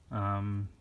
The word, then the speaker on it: Chthon: But this is actually the first appearance of, how do you pronounce the name? I wrote it on the back. Chthon, Chthon.